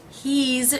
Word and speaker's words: he's: she's and it's now the apostrophe s for the word is in these three contractions is pronounced as a thief sound for he and she and as an S sound for it he's Z sound she's Z sound it's s sound the apostrophe s in